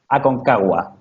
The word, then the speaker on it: Aconcagua: How do you pronounce that? Aconcagua.